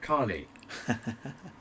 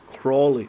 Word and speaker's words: Crawley: I wish I could have picked the car like Carly. Crawley, there's a W in there.